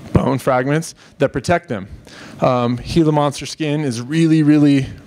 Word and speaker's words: Gila: And it's pronounced Gila as in the Gila River.